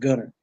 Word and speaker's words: Gunter: that East Texas and didn't pronounce the T just Gunner like that it's say twice I